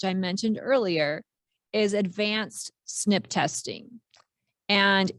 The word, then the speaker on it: SNP: now this this um these initials here look like SNP but it's pronounced snip and it stands for